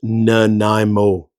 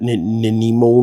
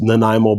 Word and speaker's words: Nanaimo: might be watching this, a Nanaimo bar, it's pronounced Nanaimo bar, like Nanaimo, BC. I've heard people pronounce it Nanaimo, Nanaimo, and it's just, yeah, no, it drives me nuts when people do that. Just, it's Nanaimo bar.